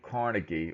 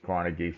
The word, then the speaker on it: Carnegie: the era was Andrew Carnegie or if you want to be more accurate in the Scottish pronunciation of his name it's carnegi but usually everybody says Carnegie so I'm going to